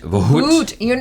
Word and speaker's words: Bhoot: Bhut. You don't have to add in that extra syllable.